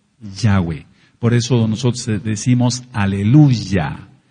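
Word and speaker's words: Yahweh: hay ninguna duda de que el nombre es yahwe yahwe por eso nosotros decimos Aleluya No hay ninguna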